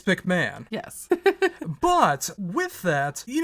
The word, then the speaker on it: McMahon: but just like Vince, it's McMahon.